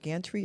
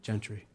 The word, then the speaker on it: Gentry: First, I want to say I had the opportunity to meet Officer, do you pronounce it Gantry or Gentry? Gentry.